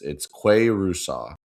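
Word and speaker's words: Qua Russaw: Also, I looked up the pronunciation on Alabama's website. It's Quay Rusaw. Quay. There's like a pronunciation guy. Quay Rusaw.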